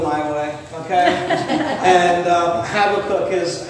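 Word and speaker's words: Habakkuk: in the book of habac or habac cook as I've learned to pronounce it I there's a right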